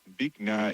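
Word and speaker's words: Bich Nga: Bikna is a Vietnamese name. B is pronounced a bit like B with a short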